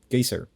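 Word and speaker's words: Geysir: lastly they're also apparently the word geyser comes from the massive Geyser in Iceland called gyser so the word itself got we just butchered the pronunciation and decided to make it official yeah pretty much oh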